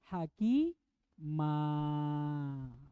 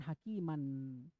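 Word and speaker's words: حكيما: tidak Diba tidak dibaca makanya cara bacanya Aliman Hakim MA bukan hakiman paham gini nah tapi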